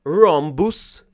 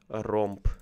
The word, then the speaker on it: rhombus: Romp. Need to translate it. Romp. How to say it correct? One moment. Rhombus. Rhombus, yes, exactly.